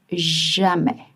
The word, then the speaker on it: jamais: Remember in French it's always and you sandwich your verb and you don't pronounce jamis. It's jam.